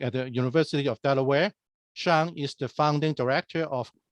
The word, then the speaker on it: Xiang: Yeah, my name is Xiang Gao. My name is spelled weird, but it pronounces almost like S-E-A-N, Sean.